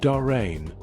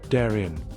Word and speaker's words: Darien: You notice the pronunciation. It's not darin like the gap in Panama. Around here, it's usually pronounced darin.